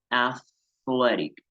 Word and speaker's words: athletic: Esto tiene un fonema con TH ahí importante, athletic. Entonces hacemos como que fuéramos a soplar con la lengua hacia afuera para poder pronunciar athletic, atlético.